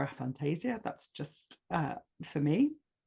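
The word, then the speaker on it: aphantasia: helped me with that a Fantasia or a Fantasia depending on how you say it I prefer a Fantasia that's just uh for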